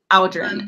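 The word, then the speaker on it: Aodren: Aldrin. It's kind of like, it rhymes with cow. It's like the AO sound makes the owl sound.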